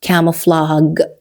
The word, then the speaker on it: camouflage: G here does not sound like an original J sound or G. It's not a soft or hard G sound. So it's not camouflage and it's not camouflage. It's camouflage. So he used camouflage to